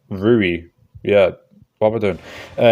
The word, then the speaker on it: Rui: Well, in the Ryu fight, I'm just now realising I'm pronouncing it Ryu, it's like Rui, yeah.